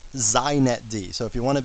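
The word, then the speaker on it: xinetd: me just say a couple things first it's pronounced zinet d so if you want to be hip you say zeinet d okay and secondly it's the epitome of why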